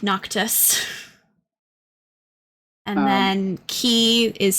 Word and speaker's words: Noctis: So it's for Noctis. It's it looks like you're actually spelling knock. So Nock, and then Tuss, Tuss. So it's like Noctis.